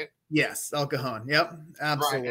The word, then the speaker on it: El Cajon: Yes, El Cajon.